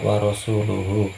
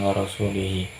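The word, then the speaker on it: وَرَسُولُهُ: kaum musyrikin dan rasul-nya ia salah membacanya seharusnya warosulahu bukan warosulih sehingga maknanya pun jadi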